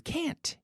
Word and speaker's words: can't: And I heard, I can't come to class. Where's the T? I can't. I can't. Can't. You have to stress that sound. You have to pronounce it at least.